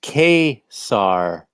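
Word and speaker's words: Ka-Zar: Pronounced Khazar.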